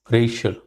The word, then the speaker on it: racial: to teach you is racial. Racial is two syllable. The first syllable has got stress, emphasis.